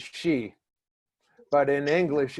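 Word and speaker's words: Xi: the problem is in in Chinese X is pronounced as Sh at least from what I saw so like your president X I is she but in English its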